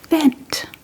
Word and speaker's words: vent: If the waiter is a little too fast or maybe the bus then you will have to say vent which means wait.